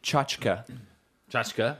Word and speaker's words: tchotchke: got a Christian yeah t CH t yeah chk e yeah imma stick with just saying it and then people say chachaka Jessica yeah that's what the pronunciation guide says cha cha cha chica yeah yeah but I don't like that I like tchotchke oh yeah yeah always